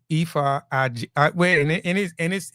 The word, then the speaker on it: Ife: Yeah, so I pronounce it Ife like eBay, but with an F. Ife Mhm.